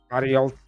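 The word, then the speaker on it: Barriault: Baralt, that's how you say it.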